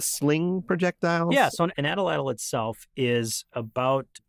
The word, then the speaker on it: atlatl: smaller as they move from spear points to Atlatl dart points to bow and arrow arrowheads. When you say Atlatl, is that how you pronounce it?